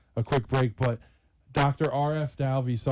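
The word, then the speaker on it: Arif: R.F. Dalvey, so I always say R.F. is the way to say that first name. It's actually A-R-I-F, but you pronounce it R.F.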